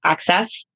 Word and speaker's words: AXS: It's spelled access, but it's pronounced access.